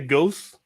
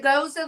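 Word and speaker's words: Gose: Yeah, I get annoyed when people can't pronounce Goza properly. Oh yeah. Oh, can I get a goose?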